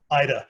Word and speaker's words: Yda: time their only child Ida sometimes spelled I D a more often y da but still pronounced the same way Alfred had his own